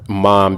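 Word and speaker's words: Mame: So you probably heard me say mom be listening to whatever, but most people don't know my little sister's name is actually Mom. It's spelled M-A-M-E.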